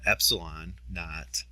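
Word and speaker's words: epsilon naught: a is the area of one plate and Epsilon knot that's how it's pronounced Epsilon KN is the uh permitivity constant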